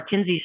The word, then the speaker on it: Kinze: And you know what she did, because she's been back from her stint at Caterpillar long enough that she just kept saying Kinsey, Kinsey, Kinsey.